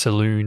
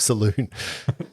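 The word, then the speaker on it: Selûne: he's a priest of saloon isn't it oh yeah well in Forgotten Realms I believe it's pronounced Saloon as in the moon oh the Priestess of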